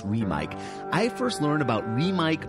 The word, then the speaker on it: REMIC: I first learned about REMIC microphones, and yes, that's how they're pronounced, REMIC. Most people think it's REMIC, it's REMIC.